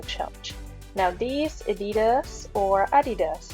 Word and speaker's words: adidas: now these adidas or adidas as we say in german which is the correct pronunciation i am actually picking